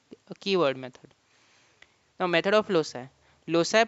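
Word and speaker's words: loci: Method of lossi and keyword method. Now method of lossi. Loi pronounced as lossi is the plural form of locus which refers to position or place.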